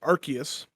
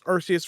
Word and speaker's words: Arceus: so we have all been playing pokemon's legends arceus i thought it was arceus for the longest of times devin devin learned